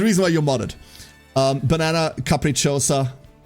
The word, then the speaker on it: capricciosa: Banana capricciosa. Capricciosa. The second I isn't pronounced.